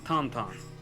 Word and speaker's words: Tintin: I've been saying Tintin the entire time. Saw the Japanese poster for it. It's pronounced Tantan.